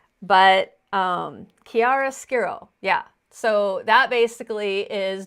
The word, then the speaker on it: chiaroscuro: I probably won't be able to pronounce it. I tried to practice, but it's chiaroscuro. But chiaroscuro, yeah.